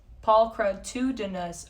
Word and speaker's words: pulchritudinous: fair all right ready pulchritudinous i'll learn how to pronounce it paul crud 2 dennis oh that's exactly what you said to me okay that makes